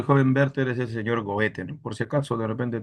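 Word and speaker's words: Goethe: Berter, es el señor Goete. Por si acaso, de repente te has olvidado. Goet. Goete. Gocha, goa, goa, algo así se pronuncia en alemán.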